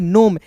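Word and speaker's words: gnome: तो देखिए दोस्तों यहां पे जी एन ओ एम ई है तो इसे पढ़ेंगे नोम। यहां पे जी साइलेंट होगा और एम ओ एन ओ एम ई को क्या पढ़ेंगे?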